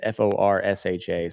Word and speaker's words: Forsha: I'm going to pronounce it like Porsche, like the car. It's Forsha.